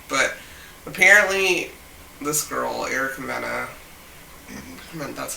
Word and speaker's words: Mena: But apparently, this girl, Erica Mena, that's how you say her name, Mena? Yeah. Mena.